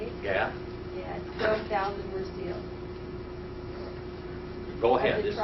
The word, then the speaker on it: Gad: Gad.